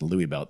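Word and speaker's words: Luibilt: It was really an abandoned house and it was called Louis belt. Louis belt spelled L UI B I L T. I looked it up and it appears to be pronounced Louis belt.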